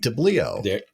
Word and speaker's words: Tabilio: Steve Tabilio.